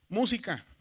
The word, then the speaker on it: música: Tenemos, por ejemplo, la palabra música. Si dividimos silábicamente o en sílabas, decimos música.